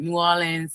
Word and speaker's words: New Orleans: New Orleans, Louisiana.